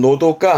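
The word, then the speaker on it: 長閑: 이게 한적함이 발음은 자그 자그 요건 특별하게 읽습니다 발음은 노도가 합니다 예 한자 안 쓰는 편인데 그니까 길고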